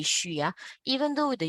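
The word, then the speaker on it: xu: u s 3 okay X U by default will always be sure even though the U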